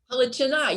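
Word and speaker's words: Halychyna: Halychina, yes.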